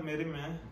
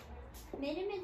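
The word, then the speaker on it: Mérimée: İki Kayın Havarisi, Aristoteles, Atinalıların Devleti, Prosper Merime, Carmen. Merime diye okunduğunda Merim. Merim olabilir direkt belki.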